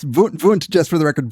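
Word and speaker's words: Wundt: better at that at the more German Germanic Prussian pronunciation but he's yes vunt just for the record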